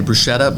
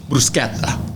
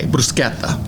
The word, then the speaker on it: bruschetta: I would say it's similar to like bruschetta, which the American pronunciation people say bruschetta, but the correct and Italian way would be bruschetta. With a K, bruschetta. It's not an actual K.